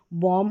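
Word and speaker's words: womb: किसी भी स्पेलिंग के आखिर में आएंगे। वम हो गया।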